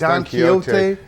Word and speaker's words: Don Quixote: Yeah, it's Don Quixote.